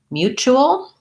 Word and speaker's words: mutual: mute at the beginning mutual has the same u sound mu this t says the ch sound mu o and then we have a dark l with a schwa if i were to